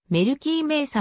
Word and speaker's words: メルキー・メイサ: リーグヨーク revolution 所属メルティ目さと表記される場合もあるがメルキーメイサの方が現地の発音に近い 2003 年にアマチュア